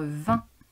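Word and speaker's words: vingt: Deuxième mot, il s'agissait du nombre 20. Comme tu remarques, il y a deux lettres muettes à la fin, le G et le T, et le son 1 qui s'écrit IN.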